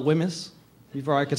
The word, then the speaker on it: WHMIS: learned how to spell Wemyss before I could spell my own name. This is a test now for you guys. How do you spell it? It was the silent H that always got me.